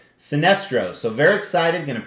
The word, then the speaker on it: Sinestro: on my custom sinestro that's right i said it right sinestro so very excited going